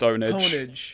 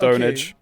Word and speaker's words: pwnage: gaming sitcom pure pwnage pwn but it's pronounced ownage it's pronounced ownage well you think it's